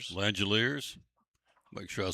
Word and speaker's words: Langeliers: You've got your Athletics catcher that is Shea Langeliers Langeliers Make sure I said it right.